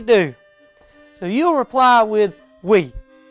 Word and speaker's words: oui: if you speak french well duh of course you do so you'll reply with we now it's spelled o-u-i but it sounds like we like w-e women love